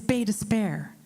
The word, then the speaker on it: Baie d'Espoir: You don't say it like hope. It's pronounced despair. So baie d'espoir is baie despair. It's the exact opposite of what you think.